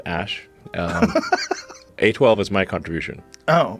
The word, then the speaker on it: Æ: x the letter x the a e is like pronounced ash a12 is my contribution